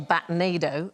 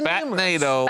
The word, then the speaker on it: batnado: Every night they leave in what's known as a batnado. It's like rhymes with tornado, OK? So batnado.